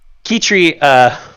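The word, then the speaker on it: Quitterie: Well, the way it's spelled and the way it sounds is more Latin than it is English. So, yeah. Kitri, yes.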